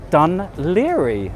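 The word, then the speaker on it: Dún Laoghaire: Welcome everybody officially to Ireland and Dan Liri, that is indeed how you pronounce it.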